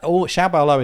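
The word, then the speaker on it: 小保罗: So that xiaobaoluo is just that in Chinese. Right. Xiao is small, and baoluo is how you say in Chinese.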